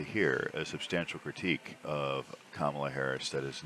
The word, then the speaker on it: Kamala: We still do have some issues there, but they've come down considerably since Biden and Kamala Harris have been in office. I watch so much right-wing garbage that I can't pronounce her name sometimes.